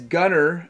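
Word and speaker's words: Gunnyr: still this one is Gunner and it's spelled funny g-u-n-n-y-r number 72 is bent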